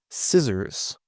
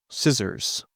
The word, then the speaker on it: scissors: Scissors. Scissors.